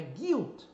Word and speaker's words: guilt: agora para sequência g1i também no G1 Praticamente você não vai pronunciar o u em inglês ó Guide então Guy Observe o som aqui é fechado não é guilt OK Guto é culpa